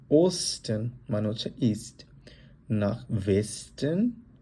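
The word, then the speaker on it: Westen: নাখ জুডেন মানে হচ্ছে সাউথ, নাখ ওস্টেন মানে হচ্ছে ইস্ট, নাখ ওয়েস্টেন, এটাকে আমরা যেহেতু ডাব্লিউ, আমরা জার্মানে ডাব্লিউকে আমরা বলি হচ্ছে ভে এর মতো উচ্চারণ করি, আমরা বলবো নাখ ওয়েস্টেন মানে হচ্ছে ওয়েস্ট, নাখ নর্ডেন, নর্ডেন হচ্ছে নর্থ, নাখ ডয়েচল্যান্ড।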